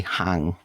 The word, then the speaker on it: Haing: and I love that other people would say Dr H esor and he would say just call me hang oh I mean and I'm probably saying it right it's probably hang or something because I'm you know